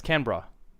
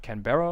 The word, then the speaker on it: Canberra: it on their radar it's Canberra I think that's how how it's pronounced so not Canberra or something uh Canberra but